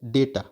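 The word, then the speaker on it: data: से इट इज अ डाटा okay इसको डाटा नहीं पढ़ते हैं बहुत बच्चे जो है ना इसका इसको प्रोनाउंस जो वो डाटा करते हैं य डाटा नहीं होता यह डेटा होता है थ्री इट इज आल्सो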